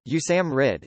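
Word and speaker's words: USAMRIID: Institute of infectious diseases USA MRI I D pronounced you Sam R it is the US Army's main institution and facility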